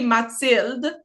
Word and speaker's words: Mathilde: name like it's like we say Matel in French yeah yeah but like English people call me Matel which I don't mind